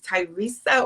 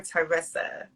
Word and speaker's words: Tyressa: sure i'm pronouncing your your name is tyresa or teressa it was right the first time they really get it